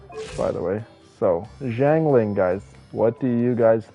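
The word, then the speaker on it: Xiangling: And by the way, the way you pronounce her name is Jang Lling, by the way. So, Jang Lling guys, what do you guys think about Jangling?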